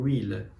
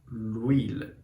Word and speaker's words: huile: Porque o H, quando ele é mudo, ele também vai fazer essa ideia aqui do L apóstrofe H. Por exemplo, huile, que é o óleo, azeite. Então, o óleo ou azeite é l'huile, d'accord?